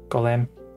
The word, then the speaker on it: golem: Golem. But folks say, but a lot of folks say Gollum. It's Gollum instead of Gollum. Golem, yeah. Golem's like the proper pronunciation.